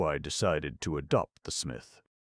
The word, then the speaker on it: Psmith: So I decided to adopt the smith. The P, I should add, for your guidance, is silent, as in fifthesis, psychic, and tomigan.